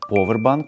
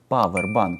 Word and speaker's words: повербанк: Як правильно, powerбан чи Powerбан? Майте час подумати. Більшість людей упевнено вимовляють Powerбан з ОО у першому складі.